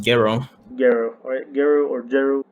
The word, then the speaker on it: Gero: Gero in the Jeru. dub, but I believe Oh, Jeru. in the original Japanese it's pronounced Gero.